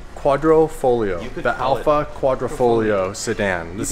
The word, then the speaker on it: Quadrifoglio: Quadrifoglio. Quadrifoglio.